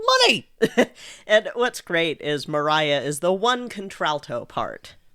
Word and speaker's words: Maria: it the other night and then they said Mariah, and I was like, "Oh, okay. Note to self, don't pronounce it Maria."